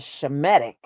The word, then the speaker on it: Shemitic: Oh, well, the H is silent. That is a damn lie. That is a damn lie. Okay, that's just like the word she, which is part of Shemitic.